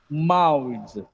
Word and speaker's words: mouths: Mouths. It's mouths, not so sound. We must be very careful that there should not be so sound at the end.